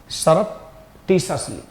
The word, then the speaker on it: surreptitiously: ठीक है, इसको हम क्या बोलेंगे, सरप्टिशसली, सरप्टिशसली, गुप्त रूप से।